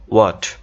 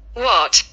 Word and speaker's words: what: সঠিক উচ্চারণটা হচ্ছে ওয়াট। খেয়াল করো, ওয়াট ওয়াট ওয়াট, নিজের একটু প্র্যাকটিস করবা।